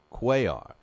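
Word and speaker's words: Cuellar: It's, uh, the way you pronounce it is Orlando Quay, and it's spelled C U L L A R.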